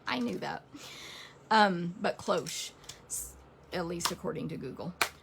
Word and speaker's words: cloche: on your phone anyway so we discovered that it's cloche in case you're dumb like us because you're probably thinking i knew that um but cloche at least according to